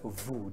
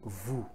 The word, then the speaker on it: vous: It is vous. This is silent. You get it? It is vous, not vous.